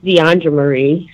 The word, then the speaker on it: DeAndre Marie: Okay, so I just want to say it's DeAndre Marie. So you read my name wrong.